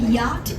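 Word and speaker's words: Yot: The name of it is called Yacht. It's spelled Y-O-T.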